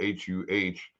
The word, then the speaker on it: Huh: Actually, his name is spelled H-U-H, which I always go, huh?